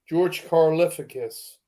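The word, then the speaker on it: George Karlaftis: say his name what's it C Cal say George carus there you go say that yeah say that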